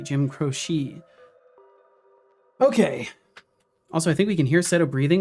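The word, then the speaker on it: Croce: right there we go I believe I was educated that the pronunciation is is crochet Jim crochet okay also I think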